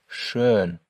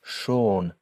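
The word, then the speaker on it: schön: Just before we move on, however, note again that there's an umloud over the letter O in shern and that this changes its pronunciation. Without that umlout, the word would not be pronounced shern. it would be pronounced sha which is a completely different word so just be very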